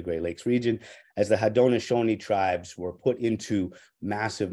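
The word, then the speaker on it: Haudenosaunee: in massive chaos as the hadonashoni Confederacy which we sometimes learn to speak of as the Iroquois Confederacy but that's not the right way to say it and I don't show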